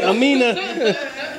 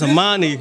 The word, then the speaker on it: Amani: Cause I was about to say Amina. No, it's Amani.